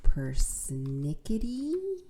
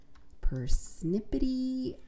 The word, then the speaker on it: persnickety: I think it was persnickety. Persnippety.